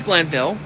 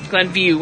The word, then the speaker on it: Glenview: and then I'm gonna travel from Madison to Glanville Glenview I keep saying it wrong Glenview but I